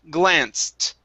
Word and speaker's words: glanced: okay very nice uh here we have an ed ending so instead of saying glanced this is glanced end with the t sound glanced okay give me